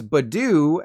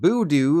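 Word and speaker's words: Budew: that porcupine was friendly this thing's Badoo and not boo doo like a ghost as I've been saying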